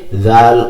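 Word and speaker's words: ذال: সা যেখান থেকে উচ্চারণ হয়েছে, জাল ও সেখান থেকে উচ্চারণ হবে। তো আপনার জিহ্বার আগা উপরের দাঁতের কিনারার সাথে লেগে জাল এই হরফ উচ্চারিত হবে, জাল।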